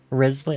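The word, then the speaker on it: Wriothesley: Risley? I think they're pronouncing it Risley or something. But the spelling of the name confuses me every time, so I can't remember.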